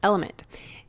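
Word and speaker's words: LMNT: our sponsors LMN element it's spelled l MNT but pronounced element if you haven't heard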